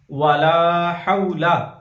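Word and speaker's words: وَلَا حَوْلَ: अकबर सुबहानल्लाहि वल्हम्दुलिल्लाहि वला इलाहा इल्लल्लाहु वल्लाहु अकबर वला हौला। अब इसकी हिज्जे करेंगे, वाव जबर वा, लाम अलिफ जबर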